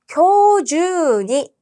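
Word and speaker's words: 今日中に: 자, 교주니 주라고 발음해야 되죠.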